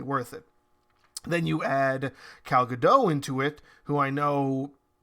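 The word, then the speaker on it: Gal Gadot: heard it pronounced as Cal gdau that makes way more sense to me especially with the fact that I'm sure the t is not pronounced as it is in the normal English dialect so my apologies previously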